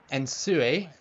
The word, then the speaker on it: Nsue: Ensue, that's how you say it.